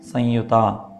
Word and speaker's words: സംയുത: അപ്പോൾ അവിടെ സംയുത, അവിടെ ഒരു അനുനാസിക ശബ്ദമാണ് പുറപ്പെടേണ്ടത് ശരിക്ക്. അപ്പോൾ അത് നമുക്ക് ചിലപ്പോൾ പറ്റിയില്ല എന്നുണ്ടെങ്കിൽ മലയാളത്തിലൊക്കെ എഴുതുമ്പോൾ സം എന്ന് മുറുക്കം ഇട്ടിട്ടാണ് യുത എന്നെഴുതാറുള്ളത്. അപ്പോൾ സംയുത എന്ന് വായിക്കാം, തെറ്റൊന്നുമില്ല. സംയുത എന്നാണ് അതിൻ്റെ ഒരു നല്ല ഉച്ചാരണം എന്ന് ഞാൻ വിശ്വസിക്കുന്നു.